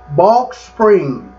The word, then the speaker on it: Balch Springs: shot by a policeman on Saturday night in balk Springs a suburb of Dallas Texas I hope I'm pronouncing that right capital b a l c